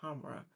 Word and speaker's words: Khamrah: So, just a disclaimer, if you um the best out the Qahwa brand to me, Khamrah brand, excuse me, Khamrah, um that's the pronunciation.